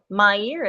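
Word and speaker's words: Méier: a little city um m-e-i-e-r my year okay mayor me um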